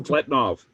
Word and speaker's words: Podkletnov: If you want, okay, there's did you see his latest thing by Podklinov or how do you say, you know? Podkletnov.